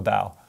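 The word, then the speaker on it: bao: B-A-O is bow. B-A-O. Bow.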